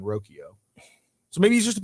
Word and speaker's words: Rocchio: I believe the Guardians pronounce his name Brian Rokio.